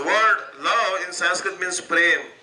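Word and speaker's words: प्रेम: The word love in Sanskrit means prem. So prem actually is only 2.5 syllables. Pa, half syllable ra, and then ma.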